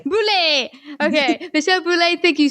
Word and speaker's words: Boulé: Boulé. Boulé.